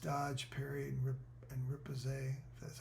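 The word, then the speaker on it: riposte: Uh, it increases dodge, parry, and rip and ripose.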